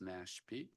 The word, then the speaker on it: NASHP: Ala joins the committee from the National Academy for State Health Policy or NASHP pronounced NASP.